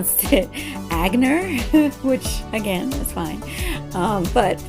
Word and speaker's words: Aigner: So yeah, the G does not have that hard G sound like in English. So it actually sounds like 3 letters. Aigner. Aigner. So you could spell it like in your head, A-N-E, with the E sound having that A sound, or the E having